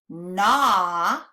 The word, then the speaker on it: gnaw: We have hawk, yawn, lawn, crawl, dawn, shawl, gnaw. Can you see that G is silent?